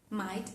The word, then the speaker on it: might: Night o la palabra might. Might. Lo mismo. Fíjense que no es m. No, no, no. Might.